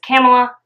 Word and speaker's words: Kamala: In honor of Kamala Harris. And that's how you say it. It's Kamala. Remember it by saying like Pamela, Kamala.